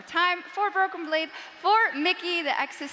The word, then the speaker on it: Mikyx: Che one more time for broken blade for Mickey the ex is silent and G Esports winning yet another title